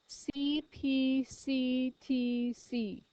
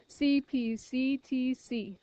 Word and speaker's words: CPCTC: top of your paper cpct TC CPT C did it wrong I said it wrong CP CTC lots of C's CP